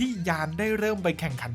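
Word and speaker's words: Jann: หนุ่ม ที่ ชื่อ ว่า ยาน มาเรมเบอรัล ครับ ขึ้น ต้น ด้วย ตัว j แต่ ดัน อ่าน ว่า ยาม จำ กัน ไม่ ค่อย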